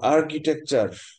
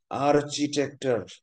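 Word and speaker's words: architecture: তারপর আর্কিটেকচার, আর্চিটেকচার, আর্চি সিএইচআই, কিন্তু উচ্চারণ আর কি, উচ্চারণ ক দিয়ে।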